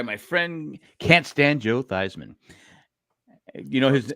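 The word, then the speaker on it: Theismann: friend can't stand Joe thyman you know his his actual name is thian but he he wanted to sound like Heisman who was in college he changed it to thyman to rhyme with Heisman why would he hang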